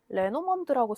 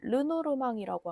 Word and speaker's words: 르노르망: 프랑스어 원발음에 가깝게는 르노르망이라고 하고, 국내에서는 영문 표기로 레노먼드라는 이름으로 많이 알려져 있어서 두 가지 표현이 좀 혼용되고 있어요.